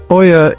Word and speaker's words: Oia: Perched delicately on the rugged cliffs of Santorini's northern tip, the village of Oia, pronounced Ia, is a vision lifted straight from a postcard.